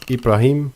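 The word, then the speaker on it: إبراهيم: In Arabic, they are pronounced as Ibrahim and Shaitan.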